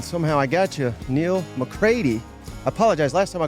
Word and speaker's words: McCready: She would take them to carpool, and they'd yell, "Campbell McCready," and she would say, "It's McCready." I don't do that. I've accepted that it's going to be mispronounced.